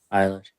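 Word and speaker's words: Eilish: Did you guys see uh Billy Billy Alish? Is how you say her last name? Isish.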